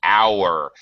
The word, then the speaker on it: hour: an how an an hour the H is silent so it starts with a vowel sound so even though these